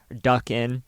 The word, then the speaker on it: Dukun: In 2006, a film by Dane Iskandar Saeed entitled Dukun, D-U-K-U-N, Duckin, was widely assumed to be based on Mona Fandey.